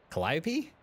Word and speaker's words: Calliope: what's this cat's name Calliope is how you say that Murray got her a